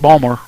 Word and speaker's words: Baltimore: You know, especially those Baltimore. They're called Baltimore people. Those people just Bombers? No, Baltimore. Bombers. Balmer. Balmer. Say it right, Balmer.